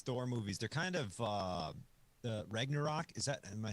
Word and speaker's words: Ragnarok: They're kind of Ragnarok.